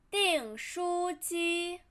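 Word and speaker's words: 订书机: stapler 订书机订书机订书机订 first tone 书 flat tone 机 flat tone 订书机订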